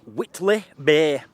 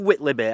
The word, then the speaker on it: Whitley Bay: Right, today we're at Whitley Bay. I've heard of Whitley Bay, I never knew where it was. I think that's how you say it, it's spelt like Whiteley, but I think it's Whitley Bay.